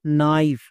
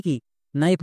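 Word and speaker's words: knife: না তাহলে কি হলো নাইফ নাইফ মানে কি নাইফ মানে হচ্ছে চাকু একে আমরা ভুল করেও কে নাইফ বা কোনাইফ এরকম উচ্চারণ করবো না কারণ এখানে কেটা সাইলেন্ট এবার কোন লেটার কখন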